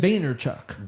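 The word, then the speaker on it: Vaynerchuk: Veaynerchuk.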